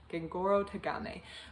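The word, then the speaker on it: Gengoroh Tagame: written down so i can say it correctly gengoro tagame my brother's husband focuses on a man in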